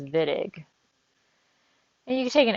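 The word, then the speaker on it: Wittig: A lot of people want to call it the Whittick reaction, but it's German and it's pronounced Vidiq.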